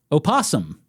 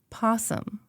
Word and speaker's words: opossum: Opossum. Possum, right? You can go either way. Well, Possum or opossum. Some people do say opossum.